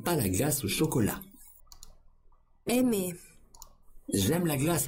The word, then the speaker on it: aimer: So the R here doesn't actually pronounce the way as far as I can perceive.